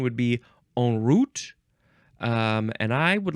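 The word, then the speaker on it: en route: sound before the next word is you can pronounce it also in root or uh and root or on on Route um or in route on Route in N route in route because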